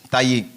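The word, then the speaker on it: Taye: Mon nom de famille, c'est T-A-Y-E, Taillé.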